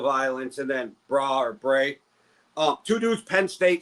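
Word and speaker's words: Brae: And then you can help me say I'm pronouncing this right. The other dude's name is Bra. B R A E. B R A E. Bray.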